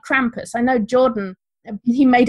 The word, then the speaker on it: Krampus: Like Krampus radio, like Krampus rhymes with campus.